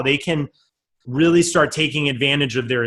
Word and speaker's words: Friel: go to cheat sheet dot real calm and people are gonna screw up my